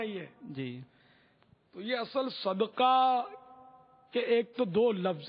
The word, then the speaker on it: صدقہ: ایک تو صدقہ دال پر ہے, دال ساکن اس کے معنی, اور ایک ہے دال پر زبر صدقہ اس کے معنی, دونوں فرق ہے.